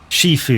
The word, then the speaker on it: Shifu: Shifu. If you say that name wrong, it sounds like seafood.